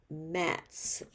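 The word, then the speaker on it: Mattz: could you say her name again please Geneva mats m-a-t-t-z and that Matt's name is on the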